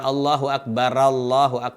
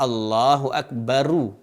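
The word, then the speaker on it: الله أكبر: Jadi bukan Allahu Akbar, salah. Yang benar adalah Allahu Akbaru. Sehingga disambung dengan Allahu Akbarullah. Allahu Akbarullah. Nah, sebagian orang disambung betul dia, benar menyambung, tapi cara membacanya keliru. Dengan adanya dia berkata Allahu Akbar, Allahu Akbar, bara, bukan bara. Yang benar baru.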